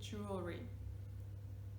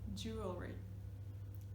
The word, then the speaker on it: jewelry: Right, we say jewelry. One more, jewelry. Again, we're kind of dropping that sound, and if you look